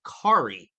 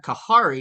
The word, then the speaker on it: Kahari: was actually talking to Kari now he's like I went up to him like hey what's going on Kahari he's like hey just want to let you know the H is silent I'm like thank you